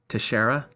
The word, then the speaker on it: Teixeira: somebody helpfully said that the pronunciation is Teixeira. See, like I thought it was that shush sound, the X.